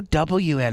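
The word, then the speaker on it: Nguyen: It was an N and then a G. And I go, Mom. Why? I know. And I go, Mom, that's pronounced Win. And like it's Vietnamese. It's always Vietnamese.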